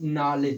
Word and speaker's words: knowledge: ऐसे ही देखा जाए तो नॉलेज, जिसको KNOWLEDGE।